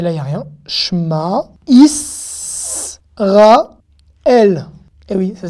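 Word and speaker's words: שמע: Shma, Israël. Eh oui, ça s'écrit comme ça, Israël. Israël. Shma, Israël. Il y en a qui disent Shema, d'accord? Mais c'est un E muet donc on dit Shma.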